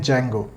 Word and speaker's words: Django: और spelling start होती है डी से, लेकिन हम प्रोनाउंस करते हैं जेंगो, तो डी साइलेंट है।